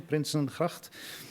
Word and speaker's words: Prinsengracht: building at Prinsengracht 263, good for your Dutch pronunciation, Prinsengracht, in Amsterdam, and in